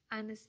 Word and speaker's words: honest: Honest ini hurufnya konsonan tapi suaranya bunyinya itu vokal. Honest bacanya pakai huruf A kan.